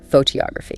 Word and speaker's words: photography: Where does the stress go in photography? On the to photography. Bingo. Second syllable.